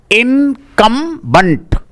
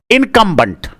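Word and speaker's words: incumbent: पहला पहले का उच्चारण है इनकम बंट। इनकंबंट। इनकंबंट का मतलब होता है पदस्थ।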